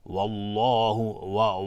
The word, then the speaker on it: والله: اصلا دهان جمع میشه، والله والله نمیگیم اگر ما دهان رو از هم باز بکنیم در هنگام تلفظ لفظ جلاله، وقتی حکمش مفخم باشه یا تفخیم یا یعنی تفخیم باشه یا غلیظ بخوایم حکمش تلفظ بکنیم، اگر دهان رو از هم باز بکنیم اشتباه تلفظ میکنیم. حالا بعضی میگن والله اینجوری، نه، این اشتباه است.